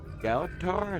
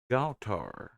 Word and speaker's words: Galtar: Galatar? Is that how you pronounce it? Galatar with the follow. Awesome. Let's check out. I got that pronunciation right here. Galtar. Galtar? Is that more accurate?